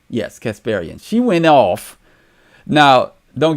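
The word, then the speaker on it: Kasparian: I always say her name wrong. Casparian. Yes, Casparian.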